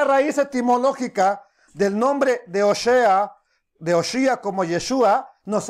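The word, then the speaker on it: הושע: oseas Qué es oseas oseas en hebreo es oshea Osa es oseas y es la palabra hebrea 1954 y se escribe de esta manera oshia oseas literalmente significa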